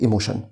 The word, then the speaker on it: emotion: TION بننطقها زي صوت الشن فبنقول emotion.